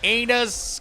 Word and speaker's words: Amos: They aim us cuz they aim us.